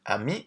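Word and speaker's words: amie: So ami and ami are pronounced exactly the same.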